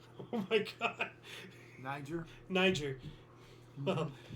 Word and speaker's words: Niger: all I can say is thank God you pronounced that right oh my God Niger Niger well it's just one letter away from